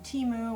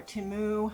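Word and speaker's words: Temu: the teu website because um teu or timu however you want to pronounce it um they are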